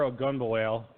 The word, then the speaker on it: Ogunbowale: but I am so I know how to pronounce his name you grab dare ogunbowale and John Ross also we're for the better